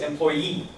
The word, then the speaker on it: employee: employee is right here the stress here is employee employer employer but employee the pronunciation is important